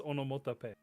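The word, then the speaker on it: オノマトペ: they just basically take the word onomatopoeia and they pronounce it like it's like the Japanese vowels, so it's onomatope.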